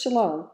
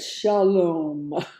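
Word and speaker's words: שָׁלוֹם: Not just shalom, but shalom. They draw it out more than we do.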